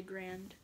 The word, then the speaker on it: Garand: And this guy's my favorite, the Emma Garand. Y'all can tell me it's Garand, Garand. That's how you say it. Some people say Garand, some people say Grand.